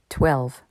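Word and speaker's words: twelve: Contrairement à two, ici le W se prononce. 12.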